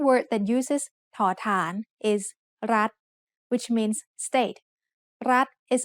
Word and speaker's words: รัฐ: We pronounce รัฐ with a high tone because of the rule. Low class consonant with a dead ending and short vowel makes high tone.